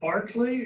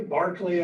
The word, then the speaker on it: Berkeley: Contrast that with Sir William Berkeley, or Berkeley, Barclay, I guess would be his English pronunciation, who was the governor of Virginia in the middle and latter part of the 17th century.